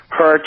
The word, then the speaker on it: Hercz: Robert Hertz. That's spelled Hercz.